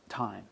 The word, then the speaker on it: thyme: And then thyme. Thyme. Yeah. T-I-M-E. Okay, right? not T-H-Y-M-E.